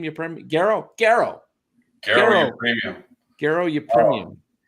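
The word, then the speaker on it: Garo: Garrow.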